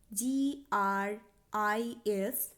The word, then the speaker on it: gris: verte, GRAY grey বা ধূসর রং পুংলিঙ্গবাচক শব্দের ক্ষেত্রে হয় GRIS।